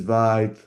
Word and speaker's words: Vite: slide This essentially what vit I think is pronounced vit in French uh is actually doing it transforms it builds your source code into distribution.